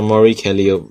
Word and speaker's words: Mori Calliope: The E is silent, so Mori Calliope.